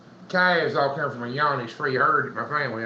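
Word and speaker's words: Johne's: Well, he said, any problems with John's disease? Happy Friday, Kinfolk Farm of Georgia. It's Yanni's disease, is how they say it.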